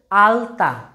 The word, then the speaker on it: আলতা: আলতা। আলতা বলার সময় দেখবা জিভটা কিন্তু তালুতে ঠেকছে না, আলতা বলার সময় লটা কিন্তু দাঁতে ঠেকছে। আলতা বলার সময় লটা দেখবে দাঁতে ঠেকছে, সেজন্য আমরা বলতে পারি